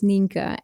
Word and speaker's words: Nienke: my Dutch name so my real name is ninka and this name is impossible to pronounce internationally like even if I would like